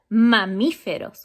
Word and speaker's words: mamíferos: Animals that are mammals in Spanish, we say that mamíferos, with accent on the I.